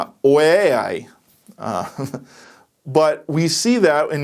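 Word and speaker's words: οὐαί: Hebrew is hoy and in the Greek I'm going to butcher the pronunciation of this but it's way I but we see that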